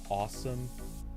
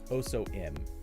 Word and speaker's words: OSOM: It is, I guess technically the company is supposed to be pronounced Awesome, spelled OSOM. And though I swear to God, I really am so close to just calling this OSOM, just so I can